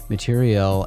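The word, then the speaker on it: matériel: the word material here I'm not mispronouncing material material for those of you who might not know is a word used to specify military material and equipment the press release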